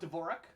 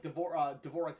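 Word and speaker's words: Dvořák: And it's spelled Dvorak, apparently. It's Czech. So that's where the J sound comes from.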